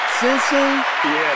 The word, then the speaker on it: Sensing: Did I pronounce it right? Sensing? Yeah. Okay. Yeah, okay. Okay. Sensing.